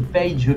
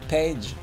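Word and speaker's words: Paige: le I, ça reste Page quand même. C'est bizarre. Non, c'est le A qui est prononcé comme ça à l'américaine. A. Ils disent pas A, ils disent A, les américains. Donc ça fait Page.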